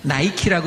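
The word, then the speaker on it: νίκη: 앞에 니케라고 하는 단어하고 뒤에 데모라고 하는 단어가 붙어 있는 단어거든요. 근데 니케라고 하는 단어는 우리가 니케라고 읽으면 잘 이해가 안 되시는데 우리가 영어식으로 읽으면 어떻게 읽냐면 니케는 나이키라고 읽어요.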